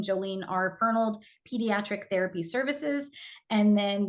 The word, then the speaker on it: Fernald: make that clear that it is Dr joelene fold thank you so much for your time and